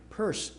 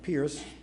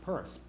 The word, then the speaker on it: Pierce: to pronounce it right purse School even though it looks like Pierce uh it's pronounced purse and he was again